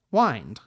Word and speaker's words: wind: in the third verse we have the word mind seemingly supposed to rhyme with wind so previously the word wind was pronounced so that it rhymed with mind whined but over time the current pronunciation has taken over and now i present